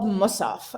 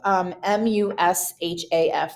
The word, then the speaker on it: Mushaf: And what that is called, that's called Musaf, Mushaf.